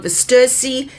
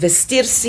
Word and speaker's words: Vestirsi: A lot of people call it Versi, but if you say it in Italian, it is said and pronounced Vesters, which means to dress oneself.